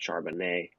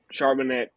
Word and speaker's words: Charbonnet: I am going with Zach Charbonnet. I think that's how it's pronounced. Um, It's I French. Seattle loves their running backs, and they also love to score with Geno Smith. So Charbonnet steps into a position where he could play.